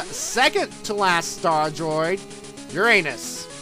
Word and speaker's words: Uranus: to last star Droid Uranus or if you prefer the pronunciation Uranus um it doesn't matter